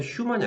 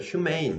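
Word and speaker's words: humane: 발음도 휴먼이 아니라 휴메인 이렇게 발음이 달라지긴 해야 되는데 그건 됐고 인간적인어야 그 어 그런 말 들어봤죠?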